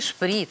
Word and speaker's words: шприц: Но запомните, пожалуйста, существительный шприц при склонении по падежам и числам сохраняет ударение на первый слог.